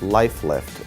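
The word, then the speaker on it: Lyf Lift: We call it the Life Lift, and what it is, it's spelled L-Y-F lift, Life Lift, and what that stands for, it's Love Your Face Lift.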